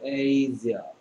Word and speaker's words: Asia: 그래서 Asia, Asia, Asia, Asia. 보통 아시아라고 하는데요. 아시아는 잘못된 발음이고 Asia. Asia. 됐습니다.